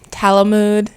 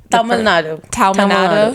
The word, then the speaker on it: Tamil Nadu: So you moved from Talamud. Is that how you say it? Tamil Nadu.